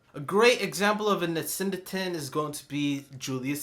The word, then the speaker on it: asyndeton: The way to pronounce this word is Asyndeton.